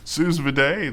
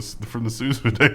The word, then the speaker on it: sous vide: Yeah, I didn't say that right. Sous vide. Sous vide. I thought it was vide too. It should be vide, right? It's so much better.